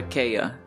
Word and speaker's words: Kaya: memories of shakia i have we call her kaya c-a-y-a we call it kaya so for people that can't pronounce her name because it's a silent t